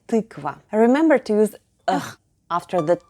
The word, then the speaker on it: тыква: The stress is still on ты, so altogether we get tykva.